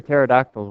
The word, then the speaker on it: pterodactyl: like this one uh why can't you hear pterodactyls when they go to the bathroom because the p is silent because I did so